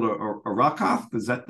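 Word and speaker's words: Arrokoth: I think it's called a Arakoth. Is that how you pronounce it? It's Arakoth.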